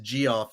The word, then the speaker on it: Geoff: I feel like it's pronounced Geoff.